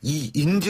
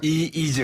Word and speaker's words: 이재: 이게 발음 잘해야 되는데 이인재 의원이 아니라 이재 의원입니다.